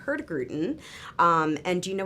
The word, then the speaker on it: Hurtigruten: about Expedition cruising yes and we're talking about her grutin which can I get like a plaque or something because I am pronouncing it correctly right yes you are producer